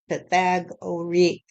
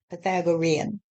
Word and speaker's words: Pythagorean: I thought it was but the the correct pronunciation apparently is Pythagorean Pythagorean you just put your finger on it stff